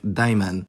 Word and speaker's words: دايماً: The adverbial form of an adjective can be formed by adding the suffix n, although be aware there's no nun written on that suffix, but it's still pronounced like daiman.